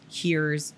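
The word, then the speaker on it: hirs: z is z e here is h-i-r and here's h-i-r-s which if you put she he her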